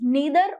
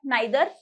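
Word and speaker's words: neither: इसे निडर निडर और डी प्रनंसीएशन कूद बी नेत्र नीदर मतलब ना ही दोनों में से कोई भी नहीं सो इट इस नेथर और नीदर D pronunciation differentiate on D basis of उस इंग्लिश और UK English नेथर ऑफ dam looks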